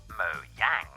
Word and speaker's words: Mojang: Notch both are acceptable when speaking in English He pronounces it as Mo Jang while in Swedish he says it as moyang you see though we